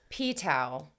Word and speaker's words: pTau: It's called Ptau. P capital T-A-U. And I'm just pronouncing it that way. Okay. Ptau. Ptau. Ptau. It's not a good protein. Maybe it's the more P like is silent.